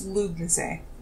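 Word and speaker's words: Lughnasadh: But yeah, so the DH is, any H that you see is silent, and DH just changes the vowel in front of it. Okay. Which is pretty interesting. But it's Lugnase.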